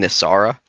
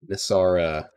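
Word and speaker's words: Nysaria: Nisara. Uh yep. Nisara.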